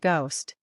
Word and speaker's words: ghost: It's silent in words like hour, honest, and ghost. For example, hour is pronounced our. Honest becomes honest. Ghost becomes ghost.